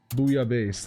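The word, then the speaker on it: bouillabaisse: It's a fish soup. Booya base. That's how it's pronounced.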